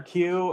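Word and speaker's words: queue: that's what it is the word q has four silent letters in it as in Q of a line that one bugs the heck out of me it starts with the letter q and then they had like four extra letters added at the end and it's still just just how do you pronounce it Q yeah for example like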